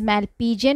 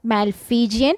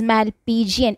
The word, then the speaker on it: Malpighian: Pronounce it as Malpighian, not Malpighian. If you pronounce it as Malpighian, you will get the spelling wrong. It is Malpighian.